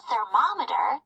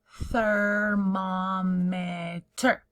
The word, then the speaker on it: thermometer: You can use a thermometer to measure the temperature. All right, here's our tool. Say it with me. Thermometer. Your tongue has to touch your teeth to say that TH sound at the beginning.